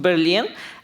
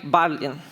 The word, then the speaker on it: Berlin: on but there are some people who doesn't know correct pronunciation of Berlin and they T like barlin and this way we